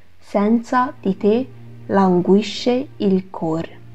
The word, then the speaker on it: cor: 下面两句 senza di te languisce il cor， senza， senza， di， di， te， te， languisce， languisce， il， il， cor， cor。